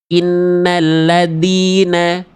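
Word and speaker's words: إِنَّ الَّذِينَ: Innalladzina, innalladzina, dina. Alasannya karena mampet suaranya. Alasannya karena tidak mengalir suaranya. Alasannya karena terputus suaranya. Zal punya sifat rokhawah.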